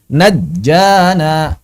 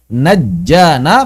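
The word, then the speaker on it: نجّانا: Misal di sini najjana najjana. Maka sebetulnya ini kan seperti membaca nun jim sukun ya.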